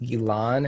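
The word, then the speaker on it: Ghislaine: gilan i'm not sure i think it's elan is how it's pronounced but it's spelled i n g-h-i-s-l-a-i-n-e maxwell and what's her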